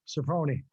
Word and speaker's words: Serpone: Serpone. Serpone? Yeah. It's like every time I guess without the E sound on the end, I'm wrong. Serpone. In Italian, the E is pronounced with an A.